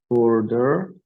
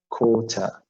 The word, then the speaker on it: quarter: Okay, this is in the American pronunciation. It might be a little bit difficult. If it's British pronunciation, you would say quota, quota. So whatever your pronunciation is, just go with it.